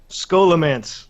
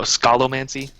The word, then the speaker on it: Scholomance: had scholomance didn't it scholomance skolo whatever i' I said it wrong for eight years until I went oh yeah there's scholars in the building right and oh Skol mancy is this a is